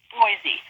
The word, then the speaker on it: Boise: It's pronounced Beatatric. And I'm from Boise, not blah. Boise.